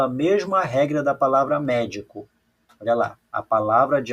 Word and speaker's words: médico: Olha só onde está o acento da palavra médico. Vou separar aqui, ó. Médico. Veja que o acento da palavra médico, tá? Não é a última nem a penúltima, é a antepenúltima aqui, ó.